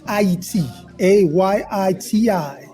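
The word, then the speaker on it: Ayiti: a Yi TI this is the correct way to say Haiti well we're getting education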